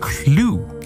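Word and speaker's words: Clew: This is called clue. Clue. Like the game, like Mr. Mustard in the library, except it's spelled differently. C L E W.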